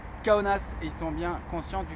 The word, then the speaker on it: Kaunas: faites bien attention à bien prononcer le nom de la ville je me souviens que c'est rigolo de dire kaunas forcément ça nous fait tous bien marrer mais ici on dit qu'à onas ils sont bien conscients